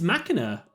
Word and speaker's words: Machina: It's machina as in like desx machina right fuse.